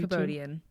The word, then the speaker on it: Kabodian: Ariana Ariana okay and did I pronounce your last name correctly codian codian okay it's funny I did have